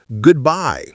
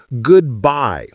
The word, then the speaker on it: goodbye: Our fourth word is goodbye. Listen again. Goodbye. Just like hello. The stress is on the second part.